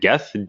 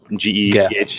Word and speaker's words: Geth: Geth, G-E-T-H, Geth.